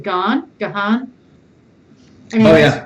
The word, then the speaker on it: Gahan: I think he calls it Gahan.